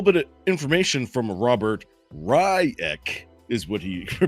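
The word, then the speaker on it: Reich: got a little bit of information from Robert riek is what he pronounces it r-i Das CK he's funny uh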